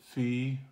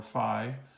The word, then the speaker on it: phi: the XY plane and you can either pronounce it fee or Phi depending on how it is in the and the Greek written language it has both pronunciations so I won't get